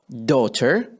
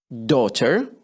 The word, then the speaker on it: daughter: daughter، daughter or daughter، daughter daughter or daughter. إذا تريد تلفظها ممكن بالبريطاني عادة الناس يميل إنه لفظ الراء شوية عنده ما يحبه فيقول daughter أو daughter أو daughter أو daughter، أي وحدة من عندهم.